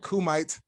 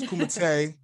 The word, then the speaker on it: Kumite: It looks like Kumite, but it's Kumite.